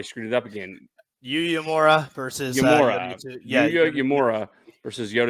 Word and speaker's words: Uemura: Yeah, taking on Yuya Umura. Like, how do you pronounce that last name? Yuya Uemura.